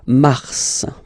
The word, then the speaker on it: mars: Okay, so in a way it's an exception because normally final S is not pronounced in French. Okay, we've got some exceptions and this one is one of them. So mars, pronounce the final S, mars, mars.